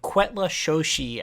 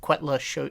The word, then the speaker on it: Cuetlaxochitl: from, and it's called Quetla Shoshi. I think is my butchered pronunciation of that. Sure. Cuetlaxochitl. Quetla Shoshi. I think Quetla Shoshi is roughly how you pronounce it, but that's the push